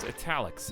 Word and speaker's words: Etalyx: It's pronounced Etalyx.